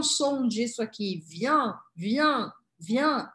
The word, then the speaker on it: vient: Mesma coisa, não falo o T ao final das palavras.